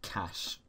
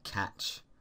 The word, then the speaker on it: cache: So, um it's important to uh realize that this is pronounced cash, not cashache, not uh catch.